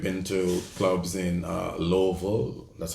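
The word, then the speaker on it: Illovo: places um we've been to clubs in uh Louisville that's how you say it Louisville i l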